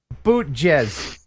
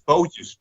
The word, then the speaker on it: bootjes: Zomar Watt Bootjez. Just some boats. That's what it's called. Zomar wat bootjes. Oh, but I said it right? Yeah. Well, I was close bootjes, anyway. But it's bootjes.